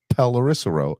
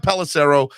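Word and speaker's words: Pelissero: was broke uh by Tom Clarissa pelarissa row I can't say his name correctly Jason thank you Tom pellicero uh announcing that we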